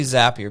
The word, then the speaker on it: Zapier: this it's totally because it cannot be zapier it's totally zapier because we people say zapier but it's it's a zap because we're we're zapping it zap so it's it's zapier